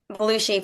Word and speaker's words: Belushi: Belushi, pronounced the same as John, spelled differently, but I'm actually in Ridgefield, Connecticut right now, where I'm from.